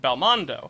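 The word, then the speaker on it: ベルモンド: which in the original Japanese is written and pronounced Belmondo, and is a direct reference to the French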